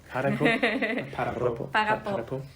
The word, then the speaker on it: para po: Oh, how do you say ‘stop’? Ah! Para-po Para-po? Parrra-po.